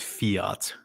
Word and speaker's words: fiat: crypto which are fi which is fiet some people pronounce it Fiat but I like to pronounce it the way that Allan Greenspan does here's the thing it's